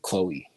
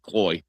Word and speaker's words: Chloe: you say it like Chloe. Yeah, you know, but I mean like you got to see upper Midwest they start pronouncing it Cloe, you know, that's just that that's when it's not as cool.